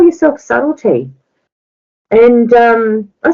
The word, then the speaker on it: Subtlety: goes just call yourself subtlety and um I said all right and it's been okay but some people just pronounce the b all the time you know and um